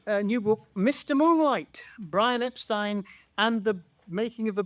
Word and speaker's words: Epstein: Well, he said Epstein himself. Who, Brian did? He insisted on Epstein, yeah.